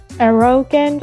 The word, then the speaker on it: arrogant: Yes, and the emphasis is on the first syllable. Arrogant. Yes, the man was arrogant.